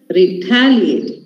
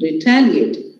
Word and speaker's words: retaliate: Now, the stress falls here on the third last. That is a antepenultimate. Retaliate. Please repeat. Retaliate.